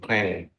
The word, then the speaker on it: Clang: And Apple also got special compiler that they call, some people pronounce it Clang. I prefer to call it C-Lang anyway.